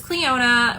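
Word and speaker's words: Clionadh: It is so hard to say their name, y'all. You know this brand. We all know this brand. They have the gorgeous background. Um, I love their logo, but nobody knows how to say it. So, this is Cleona, which I did not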